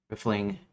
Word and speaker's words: riffling: It relates to the gun barrel grooves or the act of ransacking, stealing, rifling, riffling, pronounced riffling, rhymes with sniffling or piffle.